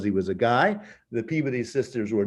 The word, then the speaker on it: Peabody: And interestingly enough, a couple of Unitarian women, the Peabody sisters, Peabody, but they pronounce it Peabody in Massachusetts, become the first translators of Hindu texts in the United States.